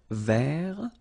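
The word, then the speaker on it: vert: remember rou ver so masculine form don't pronounce the final T ver feminine form ver so listen carefully I don't say t but it's ver ver Okay so as usual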